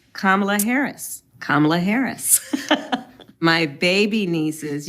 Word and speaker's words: Kamala: don't believe in littering no I how to pronounce kamla Harris kamla Harris my baby nieces you can go